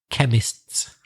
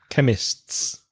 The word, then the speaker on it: chemists: shop of the Baker it's quite difficult to say chemists chemists it's good it's difficult for Spanish speakers because of the consonants together there's like three continents together chemists Craig can you